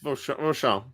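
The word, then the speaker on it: Vauchamps: So, Hey, Stigler, forget the Z at the end, or the Z, the way you Americans pronounce it. Forget the Z, the Z. It's not Vauchamp. Vauchamp. Z is silent. Vauchamp.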